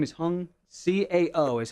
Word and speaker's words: Hung: Hung Cow.